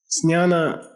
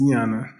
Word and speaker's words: Jnana: Some people in India say Jnana, but it's Jnana. Okay? Jnana. Okay? Jnana. It's like a Z-N-Y. It's Jnana.